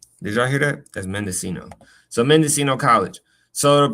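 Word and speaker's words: Mendocino: pronunciation. Mendescino.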